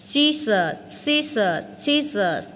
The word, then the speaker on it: scissors: Scissors, chữ cờ câm luôn.